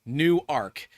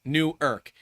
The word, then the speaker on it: Newark: In Delaware, Newark is pronounced Newark. In New Jersey, Newark is pronounced Newark.